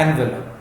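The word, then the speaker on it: envelope: शी had better not open the एनवेलप, ये word थोड़ा ठीक कर लें, एनवेलप नहीं ये वर्ड होता है एनवेलप, एनवेलप, एनवेलप।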